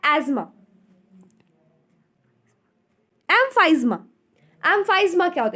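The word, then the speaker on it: asthma: First है एज्मा। इसका correct pronunciation है एज्मा। लोग इसे अस्थमा बोलते हैं, अस्थमा भी आप बोल सकते हो, बट इसकी जो करेक्ट प्रोनाउंसिएशन है, सही उच्चारण है, वो क्या है? एज्मा।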